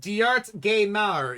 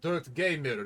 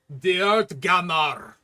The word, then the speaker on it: Diart Gamar: It's pronounced Diart Gaimar. Yeah, it's a traditional Nord name. You have mispronounced my name. It's not Dirt Gamer. It's Diart Gamar.